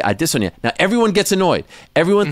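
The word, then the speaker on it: Adesanya: fighter named Israel aresanya everyone calls them arasanya but I noticed that he said his name a different way and so I asked him off to this I was like is everyone saying your name wrong you said yes it's addisonia so every time I talk about him I say I dis on you now everyone gets annoyed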